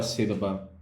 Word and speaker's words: sílaba: Na palavra sílaba. Sílaba, nós temos essa divisão e nós temos aqui a sílaba A. Sílaba mais forte, justamente. E como ela está localizada na antepenúltima posição, nós temos aqui a última posição, nós temos a penúltima, nós temos a antepenúltima posição.